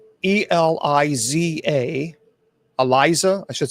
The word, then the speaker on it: Elisa Lam: Yeah, it's Eliza, Eliza. I should say. I think it's Eliza Lam, Lam, Lam.